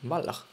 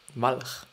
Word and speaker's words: Walch: on, just, noticed that it is actually an Austrian name, so it should be actually pronounced as the Austrian name, which then would be Walch. Walch.